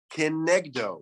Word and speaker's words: kenegdo: Ksiv, it's spelled kenagdo, vikarinan kenegdo. Now those 2 words have very different meanings.